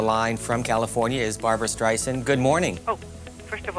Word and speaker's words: Streisand: Joining us on the line from California is Barbara Streisand. Good morning. Oh, first of all, my name is Streisand, with soft S and A-N-D, like Anne, sand on the beach, okay?